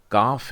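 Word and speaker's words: כ: वैसे ही ये काफ है और इसका बेस उच्चारण होता है क।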